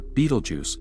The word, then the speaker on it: Betelgeuse: Let's pinpoint one of the most distant named stars visible, our good friend Betelgeuse, or Betelgeuse as it's often pronounced.